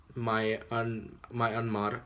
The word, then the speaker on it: Myanmar: But in Burma, basically, which is in Myanmar, that's how you say it, you know, Muslims